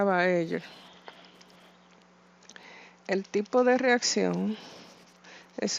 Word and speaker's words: Baeyer: Se escribe Baeyer, pero se pronuncia Baeyer.